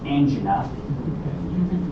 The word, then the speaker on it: angina: We use that term analogous to unstable angina, and please pronounce it that way. I hear it pronounced incorrectly. It's angina. Doesn't rhyme with anything else.